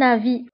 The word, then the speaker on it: avis: à mon avis. فهذه العبارة تستعمل كثيرا في التعبير عن الرأي. à mon avis تعني في رأيي. في رأيي. à mon avis. وانتبهوا هنا، avis تكتب بS في لفة ولكن لا تنطق.